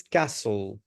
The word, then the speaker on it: castle: look after is Ku remember the pronunciation is Castle not castle castle letter T is completely silent okay guys okay thank